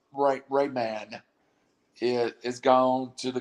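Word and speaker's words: Raimann: from central michigan bernard rahim has gone he slides i can't i'm saying his name wrong i'm strike i'm it's like rayman it is gone to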